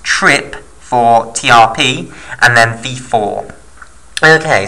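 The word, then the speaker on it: TRPV4: known as trip v4 TRP v4 often pronounced trip for TRP and then v4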